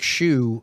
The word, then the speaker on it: Xu: Frank Shu I don't Frank Xu and he pronounces it shu like wear a shoe.